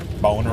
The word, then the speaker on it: Boehner: Not Boehner, it's Boner. In school, they taught you about A-E-I-O-U. And If you want your noun pronounced Boehner, then spell it that way. B-A-Y-N-O-R, Boehner. Not boner. B-O-E-H-N-E-R. Boner, boner, boner.